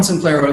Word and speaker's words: Simplero: I was pronouncing it Simplero, and you're like, it's like dinero, Simplero. And I'm like, yeah. I'm like, so can you do your best impression of Robert De Niro? Yes, Simplero. I don't know. Simplero rhymes with dinero.